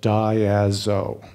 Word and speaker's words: Diazo: By the way, Diazo is named after a printing process that is used for blueprints, for making blueprints, and it is pronounced Diazo.